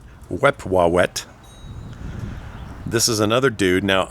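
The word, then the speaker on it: Wepwawet: tonight anyway his brother his name is wewa we wet I'm pretty sure I'm saying it right it was spelled let's see uh w p w a w t we wet this is another dude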